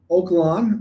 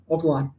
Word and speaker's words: Oak Lawn: Is it pronounced Oak Lawn or Oakland? Oak Lawn. Oakland's in California, but yeah, Oak Lawn.